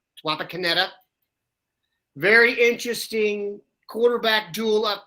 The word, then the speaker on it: Wapakoneta: places I can't pronounce yesterday Wapakoneta I believe that was accurate not pascala Wapakoneta very interesting quarterback duel